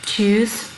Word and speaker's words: truth: Truth là sự thật. Các bạn nhớ cái chú ý cái cách đọc ở đây này. Truth, âm cuối là truth.